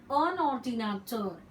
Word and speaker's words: un ordinateur: Un ordinateur, N is pronounced.